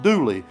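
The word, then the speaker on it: Dula: named tom doula d-u-l-a that people call tom dooley it's kind of like when i grew up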